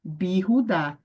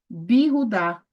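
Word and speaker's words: בִּיהוּדָה: longa uma vogal longa como é que você vai pronunciar bir rudá bir rudá tá bom e é em judá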